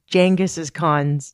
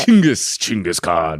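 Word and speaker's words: Chinggis Khan: to go find, and I'm saying his name wrong, Jenis' Khan's tomb. Yeah. Jenus. Jangaskhan. How do you say it? Chingis. Chingaskhan. That's what the vog's called.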